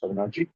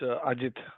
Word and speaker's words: Ajit: Am I pronouncing correct? Avinarji? No, it's Ajit.